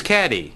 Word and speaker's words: Cady: one her name is caddy caddy Haron where are you caddy that's me it's pronounced like Katie which fictional characters names